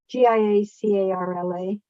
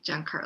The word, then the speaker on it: Giancarla: Giacarla. I called her Gia Carla for a long time. Oh, but it's pronounced John. Yeah, GIA, maybe there's an N. GIA. Yeah, Giankarla, Giancarla.